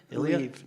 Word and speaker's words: Lviv: But when they I don't know how you pronounce it, Lviv. Ilya? Lviv. No, the town. Oh, Lviv.